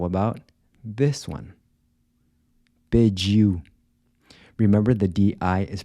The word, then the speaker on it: pediu: Pediu. Remember the “d-i” is pronounced like the “j” in “judge”-“pe-diu”.